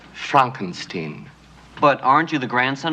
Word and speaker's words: Frankenstein: Frankenstein. That's Frankenstein. I beg your pardon? My name it's pronounced Frankenstein.